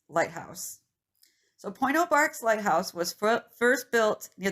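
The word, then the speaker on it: Pointe aux Barques: i have another one where i put the pronunciation it's point oh bart's lighthouse so point oh barks lighthouse was first built near the tip of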